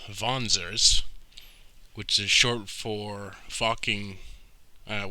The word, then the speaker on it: Wanzer: wanzer from this game well i mean it's pronounced vonser but i saw the word before i ever heard it pronounced so i always say wandser but yeah so there's a bit of a